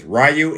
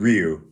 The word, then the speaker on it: Ryu: I'm better with Ken than Rayu or Ryu because I've heard it pronounced both ways. Rayu and Ryu.